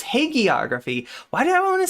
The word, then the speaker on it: hagiography: It's a hard G. It's hagiography.